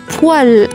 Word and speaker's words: poêle: 40e mot, une poêle. Attention, ça induit en erreur.